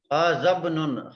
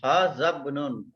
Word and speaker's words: هذا ابن: Hazabnun. Hazabnun. Hamzatul wasal. هذا ابن. Yeah, Hamzatul wasal we don't pronounce.